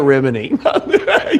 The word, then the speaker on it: Remini: So It's Leah Remini. They're correcting Leah our Remini. name. They're correcting us, pronouncing her name wrong.